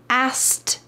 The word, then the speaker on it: asked: I said, my host mom asked me. What is happening here? The K really gets just forgotten in this word.